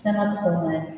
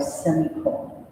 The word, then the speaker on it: semicolon: on certain occasions semicolon since it could be pronounced semicolon or semicolon the writer honor leonard argued